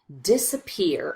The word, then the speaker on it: disappear: this disappear disappear disappear but because we don't spend quite as much time on the D disappear it we categorize that as secondary stress and if you notice this middle syllable we just rush through as quickly as we can disappear we get right to that third syllable that receives the primary stress the third level of